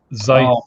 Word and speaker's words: Zeiss: Well, even though Schiavello disagrees with you, Zeiss is the correct way to pronounce that word.